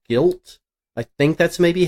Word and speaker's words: GYLT: I do have to say the one reveal that looks the most interesting to me is the one called Guilt. I think that's maybe how it's pronounced.